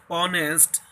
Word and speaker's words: honest: Not in honest and honorable, h is not sounded.